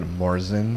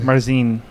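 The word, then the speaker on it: Märzen: It's Marzan, not Marzen. Marzine, actually. Marzine. How they say it in Well, German.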